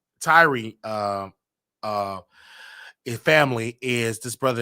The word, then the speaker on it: Tyre: Okay, Tyree Nichols, okay, or Tyrone Nichols. I want to make sure I say his name right, you guys. He is Tyree.